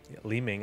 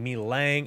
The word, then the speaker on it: Li Ming: with Li Ming, or Li Ming, I said it right. People have been saying Mi Lang and Li Mang and all kinds of different awful pronunciations, and it has plagued my brain.